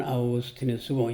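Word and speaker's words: Augustinus: 어 이제 첫체이 아오그스티뉴스 라틴 발음은 아우고스트뉴스고 영어로는 어그거스틴이라고 합니다.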